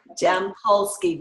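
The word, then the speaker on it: Jampolsky: Gerald with the G Jam like strawberry jam jam pulsky J am pol s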